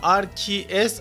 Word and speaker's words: RKS: Aslında RKS, Arceus gibi okunuyor.